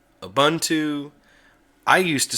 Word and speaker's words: Ubuntu: hear him give a speech he calls it auntu it's an African word that means community and it's pronounced auntu here's one that kind of gets on my